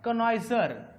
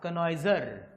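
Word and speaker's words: connoisseur: ज्याचा इंटरेस्ट तो असतो त्याला म्हणतात कनयझर सी O double N ओ I double S य आर स्पेलिंग थोड वाकड तिकड आहे पण ते पाहून घ्या सी O double I double S य आर कनयजर कळते का स्पेलिंग इंटरेस्टिंग क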